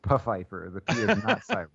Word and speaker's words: Pfeiffer: to meet you Mr Pfeiffer and he goes oh no no it's pronounced buffifer there we go then